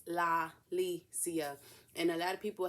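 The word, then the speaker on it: La'Lisia: my name podcast so it's la licia and a lot of people have a hard time pronouncing the law don't know why but anyway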